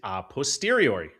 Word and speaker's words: a posteriori: Jim Bob, the pronunciation is a posteriori. Sound it out.